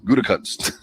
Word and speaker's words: Gutekunst: Gutekunst.